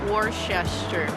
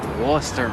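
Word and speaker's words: Worcester: do I know that how do you pronounce it Worchester I hated this more more horses there Porchester the German like what is that would stop what stop Wooster yes would stop Wow you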